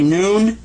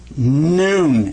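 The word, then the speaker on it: نون: the points like that can you say noon noon makes the sound of nah all right now the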